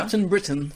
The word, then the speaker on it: Captain Britain: Captain Britain. Il faut le prononcer à Ah là l'anglaise.